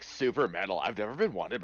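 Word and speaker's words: Souper: to the super salad is it a super salad or is it soup or Salad super super but it's spelled s o u p e r salad awesome uh and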